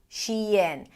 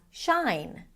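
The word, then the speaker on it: Shein: And people tend to pronounce it as shine, as in shine on, you crazy diamond.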